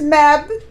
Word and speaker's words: Mebh: And then there's Mebh.